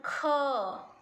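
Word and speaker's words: ख: So how to pronounce I will tell you again. So ka, then kha. So this is the low sound. Ka is a low sound. Kha is a deep sound. When you pronounce ka and put your hand in front of your mouth, the air will not come. When you say ka, no air. When you say kha, air will come.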